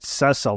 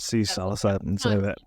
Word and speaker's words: Cecil: pronounce his name but you said it's Cecil not cease it looks like Cecil